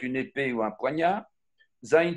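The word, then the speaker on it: זין: épée ou un poignard zain se prononce entre les dents zain c'est aussi le crochet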